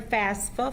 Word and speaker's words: FAFSA: come and they'll get help filling out their FAFSA forms. Is that right? Am I Yes. saying it right? Yes, FAFSA, you got okay.